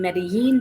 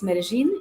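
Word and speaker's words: Medellín: have heard the name medellin because of mexican spanish mexican spanish will use a y sound for the double l but if you live in colombia it's medellin it's the way to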